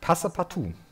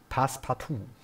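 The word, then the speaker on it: Passepartout: Passe partout. Pass partout. Das E spricht man nicht mit.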